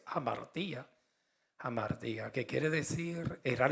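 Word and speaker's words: ἁμαρτία: No sé cómo se pronuncia, si es amartia, yo creo que es amartía.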